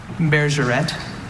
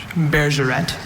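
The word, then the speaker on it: bergerette: Beerret. What's the definition? A 16th century pastoral song or dance. Alternate pronunciations? Just beer. Beerret.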